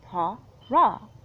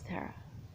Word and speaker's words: Tara: And then now it's Terra. But it's spelled Tara, and should be, if it has to do with the Irish lineage, should have been pronounced Tara in that movie.